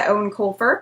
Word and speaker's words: Eoin Colfer: And the last thing I read was Artemis Fowl by Eoin Colfer. Yes, that is apparently how you pronounce that name.